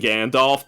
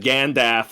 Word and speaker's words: Gandalf: going full canadian when they don't pronounce the l and gandalf but pronounce both of the l's in both every time he said gandalf he said gandaf and every time he said both he said both you're